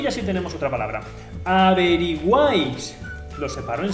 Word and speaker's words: averiguáis: Averiguáis. Lo separo en sílabas. A-B-R-I-Guáis. ¿Veis? Que la última sílaba es la sílaba tónica.